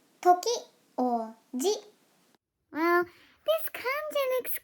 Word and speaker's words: 時: kanji is this one this kanji means time or hour and it is read as toki well this comes and